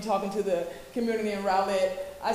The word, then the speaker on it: Rowlett: uh the community of Rowlett y'all I said roulette right and I had to make sure that's the right pronunciation evidently it is not I got a little Southern Twain myself I'm from Florida so but it's Rowlett is that correct yes so when I got